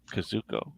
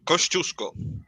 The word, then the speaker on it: Kościuszko: Yeah, Yeah, and so we have a Polish revolutionary hero, Kazuko. Yeah, you're right. Kościuszko.